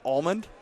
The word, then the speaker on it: Allmand: Allmand. Yes. You say it like the nut? So, There- I don't know. I get tripped up on it all the time because I just say it almond, but I think there's